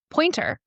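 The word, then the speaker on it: Poynter: There's a really good article that we were passing around yesterday from Pointer. If you don't know what Pointer is, it's and it's spelled P O Y N T E R.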